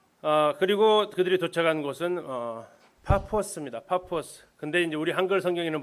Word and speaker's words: 파포스: 우리 어르신들이 번역을 하면서 그냥 파포스 쓰시면 되는데 이게 좀 발음이 좀 안 좋으신가? 바보라고 이렇게 해서 지금도 바보 섬입니다. 바보라는 도시예요. 그냥 파포스입니다.